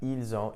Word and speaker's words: ils ont: You'll also notice that when I pronounced it, ils ont, elles ont, the S in il, elle, which is normally silent, was actually pronounced, and I pronounced it like a Z.